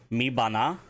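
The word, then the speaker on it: me bana: Mi bana. And that is spelled M-E Beton B-A-N-A.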